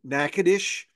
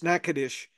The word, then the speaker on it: Natchitoches: I'm going to recommend one in Natchitoches. The Yankees don't know how to pronounce that. They'll call it Nacogdoches and all Oh these other yeah. terms. It's Natchitoches, and they have a gas station, Little Cajun,